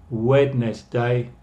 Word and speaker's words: Wednesday: Por eso se escribe Wednesday, pero se pronuncia Wednesday.